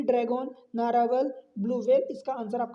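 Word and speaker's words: Narwhal: पहले नाम ध्यान रखना नारवाल अब इसका नाम आप प्रोनाउंसिएशन देख लो नार डब्ल्यू एच ए एल तो नारवाल आप पढ़ सकते हो एक सबमरीन है जो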